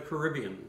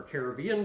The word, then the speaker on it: Caribbean: But when I think nutmeg, I think of the Caribbean, so there we go. Or Caribbean, depending on where you're from in the world and how you pronounce it.